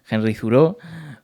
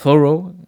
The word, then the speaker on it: Thoreau: Cuando la pronunciación, eh, al menos la que yo utilizo, viene más de una acentuación más francesa, ¿no? Más afrancesada, la de Thoreau.